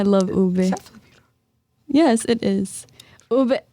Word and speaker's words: ube: I've seen people say upe.